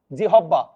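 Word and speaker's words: জিহ্বা: ওকারান্ত হয়ে যাবে গ্রা এবার হ এর সাথে ব থাকলে উভ হয়ে যাবে। যেমন আমি এখানে লিখেছি জিহবা। জিহব্বা।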